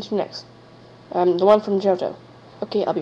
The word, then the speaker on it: Johto: I have the Orange Island theme song, the theme song from Johto, or Johto, however it's pronounced. You guys can pronounce it however you want it to be pronounced. But it's Johto.